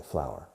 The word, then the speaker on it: flour: Se escribe flor, pero se pronuncia igual que flor. Una flor. Pero siempre en singular, por supuesto, porque es incontable, flour.